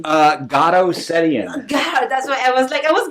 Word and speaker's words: Garo Setian: How you pronounce your first name? Garo Setian.